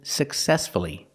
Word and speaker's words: successfully: now let's practice with successfully example he managed the company successfully for many years successfully successfully the stress is on the second syllable so we pronounce the U uh successfully let's practice did